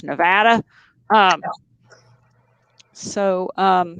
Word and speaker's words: Nevada: science actually i've been told that's not here pronounced nevada it's nevada um so um how did um how did